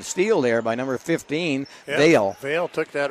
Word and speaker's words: Vale: Vale, that's Vale. Jasmine Vale. Yep, that's how they pronounce that.